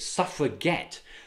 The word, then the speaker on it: suffragette: union embraced the term they pronounced it suffer get underlining their determination to get the vote they even named their